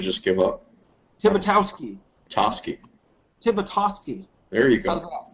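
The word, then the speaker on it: Tibitoski: Tibitosky.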